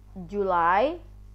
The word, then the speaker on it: July: apro oke Hai yang agak susah itu adalah julai ditulisnya seperti ini tapi dibacanya ngga Wulan Juli Astuti ini gile kemudian